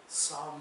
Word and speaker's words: psalm: आप में से बहुत सारे ये भी सोच रहे होंगे कि ये साम क्यों बोला जा रहा है।